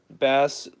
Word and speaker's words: Bass: Okay, so he says Bass said like base.